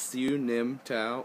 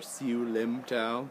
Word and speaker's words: Siu Nim Tao: It's Siu Nim Tao, or Siu Lim Tao. There's different pronunciations. Siu Lim Tao, Siu Nim Tao. There's a bunch of different ones. I just call it Siu Nim Tao. That was the way I learned it.